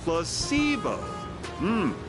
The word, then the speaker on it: placebo: today repeat after me placeo H the stress is on the middle syllable very good